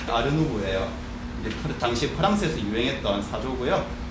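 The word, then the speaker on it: art nouveau: 이게 인상주의 바로 후기에 일어났던 사조인데, 여기 보면 뭐 아트, 누에보 뭐 이런 식으로 적혀 있는데, 이게 왜 아르누보라 하려면 프랑스 발음으로 하면은 아르누보예요.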